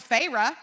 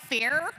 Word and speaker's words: Feyre: learned from Erin yesterday, she did not know it was Feyre. She was like, Fair? So she's been saying it wrong for 7 books.